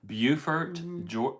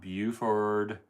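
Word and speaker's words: Beaufort: Bufort Bufort, South Carolina. It's not It's not Buford and it's not Bowford, North Carolina. This is Bufort.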